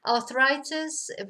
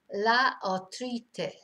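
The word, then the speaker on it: artritis: Arthritis. Again, similar word but pronounced completely differently. La arthritis.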